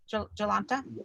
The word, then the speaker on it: Jolanta: And Jolanta, am I pronouncing that correctly? Jolanta?